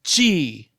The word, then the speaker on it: qi: They need an energy conduit, a mover of chi. That's spelled qi.